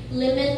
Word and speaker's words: Plymouth: Pero kung mo basawin, New Plymouth. Plymouth ang pag-pronounce sa ila dito.